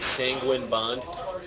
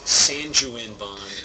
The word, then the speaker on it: Sanguine Bond: that people mispronounce okay especially when they're real words like sanguine Bond I've heard San Juan Bond well I'm so many